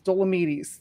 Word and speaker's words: Dolomedes: So it's Dolomedes. Dolomedes. Dollo Medes. In Dolomite. Yeah, there you go.